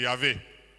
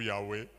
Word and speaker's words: Yahweh: C'est Yahvé. Ou Yahweh. Dépend de prononciation, notamment africaine.